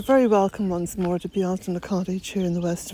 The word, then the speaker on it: Bealtaine: And no, it's not Bealtaine. Bealtaine is just a cultural appropriation, if you like. The actual word is Bealtaine. That's how it's pronounced in Irish, and it is the month of May in Irish.